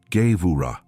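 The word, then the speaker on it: gevurah: The word is ga. Listen to the sound of it in your spirit. Gura. It's spelled g e v u r a h.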